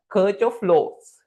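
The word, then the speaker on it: Kirchhoff: The circh of flow they are the spellings but we pronounce that is that as circh of flows.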